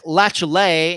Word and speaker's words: Latiolais: a whole so for jake lachlae and that is how you pronounce his last name l-a-t-i-o-l-a-i-s lay a large majority of